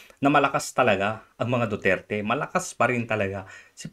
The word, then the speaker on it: Duterte: They united with Duarte, or I'll get his name mispronounced, but Duterte.